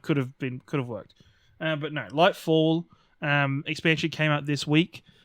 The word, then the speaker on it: Lightfall: No, it's Lightfall. I keep calling it Lightless, which in the grand scheme of Destiny story, that is kind of could have worked. But no, Lightfall expansion came out this week.